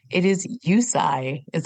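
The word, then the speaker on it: Usui: we go we finally know how it is pronounced it's not Yu or yui it is yusi is how you pronounce it so I took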